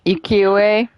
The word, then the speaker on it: ukiyo-e: UKIYO-E.